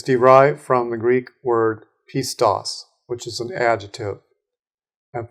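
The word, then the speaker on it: πιστός: We want to look at an occurrence of the adjective pistos, is how it would be pronounced.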